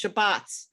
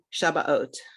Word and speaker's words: Shabbat: background you would say shabas right if you come from a modern Hebrew or spartic background you would say Shabbat I think in America